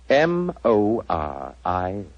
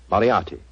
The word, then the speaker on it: Moriarty: People will either misspell it or mispronounce it. I'm afraid I'll have to begin calling it the way it looks. M-O-R-I-A-R-T-Y. Moriarty.